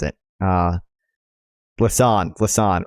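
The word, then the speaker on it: Lausanne: to pronounce it uh Lan Lan right Lan like Hassan but with an L Lon for a substantive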